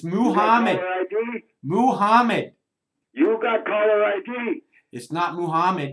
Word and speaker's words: Muhammad: This is Mohammed. It is not. You got to say it right. It's Muhammad.